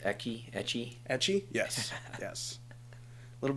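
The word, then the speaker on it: ecchi: you a fan of uh how is it pronounced ecky etchy etchy yes yes a little bit of hentai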